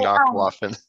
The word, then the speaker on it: Nachtwaffen: I figure I should start saying Nachtwaffen. Thank you for saying Nachtwaffen. That's how they say it out there, isn't it?